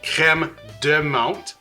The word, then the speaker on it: crème de menthe: So crème de menthe, crème de banane. I'm not mispronouncing it.